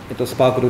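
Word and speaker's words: SPARQL: これはスパークルって読むんですけ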